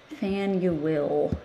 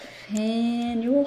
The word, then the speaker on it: Faneuil: going to add one more oh faneuil hall fan you will do you think i can spell that you think i can remember how to spell that fan you will haul okay i want to add a little